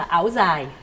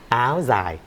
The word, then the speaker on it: áo dài: Thì Martina hoàn toàn là phát âm tiếng Bắc, thì mình phát âm là áo dài. Áo dài với chữ Z.